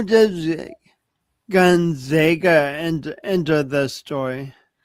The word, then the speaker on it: Gonzaga: And then how does Gonzaga enter the story?